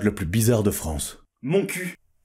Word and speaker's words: Montcuq: plus bizarre de france mon cul c'est un petit village dans le lot ah oui mais alors ça se prononce montcuq le cul et sonneurs